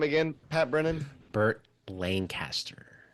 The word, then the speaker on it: Lancaster: Burt Lancaster. You said Lancaster. Yeah, that's how you say it in Pennsylvania. Lancaster, Pennsylvania. Lancaster. What's the? It's Lancaster in California. In Pennsylvania, it's Lancaster.